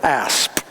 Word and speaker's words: asp: He asked me that because he knew I would pronounce the P on the end of asp.